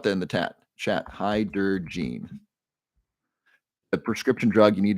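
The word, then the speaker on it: Hydergine: let me drop that in the chat chat hi der Jean the prescription drug you need to check with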